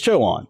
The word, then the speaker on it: Chowan: really say the it's choan Joan County showan Joan okay but